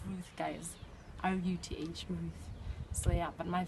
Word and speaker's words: Ruth: R-U-T-H, Ruth.